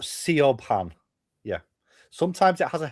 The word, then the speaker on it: Siobhan: Siobhan is spelled S I O B H A N. That is the traditional spelling of the name because it's an Irish name. Really? But it's spelled Sean.